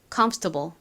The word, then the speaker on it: comfortable: comfortable 한 번 더 해 볼게요. 앞쪽 컴의 강세가 있습니다.